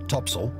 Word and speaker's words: topsail: Square sails included the four course four Topsail pronounced Topsail and four top Gallant sale pronounced photogansel on